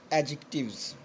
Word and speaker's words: adjective: तो ये इसकी करेक्ट प्रोनाउंसिएशन जो बनेगी वो एडजेक्टिव्स बनेंगी।